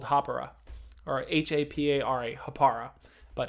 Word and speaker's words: Hapara: company called hapura or h-a-p-a-r-a hapara but harper is the actual new zealand pronunciation the maori i always pronounce that